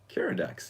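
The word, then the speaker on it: Keeradaks: Now, is it Kiridax or Kiridakis? Kiridax, that's the way it's spelled.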